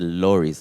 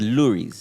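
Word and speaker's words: Loeries: bird uh cuz bird I thought it's the lores it's the lures they pronounce it Lou L yeah yeah so l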